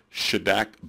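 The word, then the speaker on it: Šidák: here's another post hoc test it's pronounced should act bonferroni and what it does is it's a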